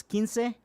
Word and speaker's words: Quince: I'm only asking for $15, because $15, because my last name is spelled Quince. Yeah. So Quince for it's Quince.